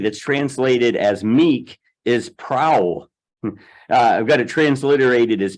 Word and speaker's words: prau: Now, the Greek word in Galatians 5:23 that's translated as meek is prau. I've got it transliterated as P-R-A-U and pronounced prau.